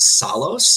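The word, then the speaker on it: Psallos: of the group called I think it's pronounced Sol owes its P s a ll o s that's P s a ll OS so songs kind of like salt and solos I think but man go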